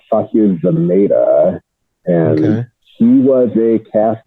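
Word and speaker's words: Zamata: her mom is sashir zamada which I don't recognize that name I know who that is I think it's pronounced zameda and she was a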